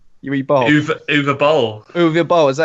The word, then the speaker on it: Uwe Boll: Uwe Boll. Uwe Boll. Is that how you say his name? Uwe I think Boll. so. The W is a V, I think.